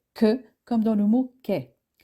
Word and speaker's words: K: La lettre K se prononce que, comme dans le mot kangourou.